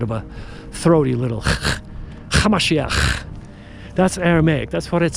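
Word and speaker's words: המשיח: His real name was Yeshua, Hamashiach. That's how you pronounce it in Aramaic.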